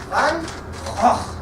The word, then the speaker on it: Van Gogh: Pronounced correctly, Van Gogh. Just like that, okay?